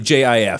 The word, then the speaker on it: GIF: with a G yeah it sounds like ji f sounds like G even though the G stands for graphic it's a little counterintuitive